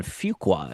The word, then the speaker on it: Fuqua: The brand new biopic on the late Michael Jackson directed by Antoine Fugqua is how you say his name.